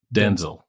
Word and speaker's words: Denzel: Not Denzel. Oh, Not Denzel. God. The emphasis is on the first part. Denzel.